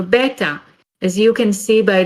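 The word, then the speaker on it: בית: list as well well the letter is almost universally pronounced as bet there are variations on the pronunciation of the letter's name according to some ashkenazic pronunciation for example it would either be pronounced bait or base it is one of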